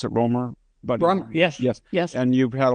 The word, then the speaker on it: Romer: My siblings are Democrats, but And you were a legal counsel or Governor Romer. Is that how you pronounce it? Ror.